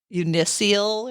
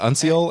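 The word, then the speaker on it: uncial: I went to several robots to tell me how to pronounce it, and they all pronounce it as unseal. Really? Yeah. Okay, not like unicial or something. No. So it's unseal.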